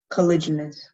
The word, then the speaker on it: caliginous: Colliginous. Could I have all the information, please? The only pronunciation is colliginous.